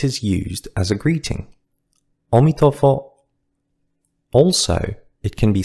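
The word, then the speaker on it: 阿弥陀佛: Ami Tofo, the Chinese pronunciation of Amitabha Buddha has become a common expression among Buddhists and non-Buddhists alike. Sometimes it is used as a greeting. Omitofo.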